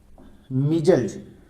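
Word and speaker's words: measles: देखिए मीजल्स इसका सही उच्चारण होता है।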